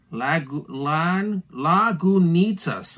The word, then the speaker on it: Lagunitas: Oh, look, it actually has a little breakdown of how to say it. Lagunitas. Lagunitas. There you go. They give you this. They give it to you right on the box. I love that. Lagunitas. Lagunitas. That's it. Now we know.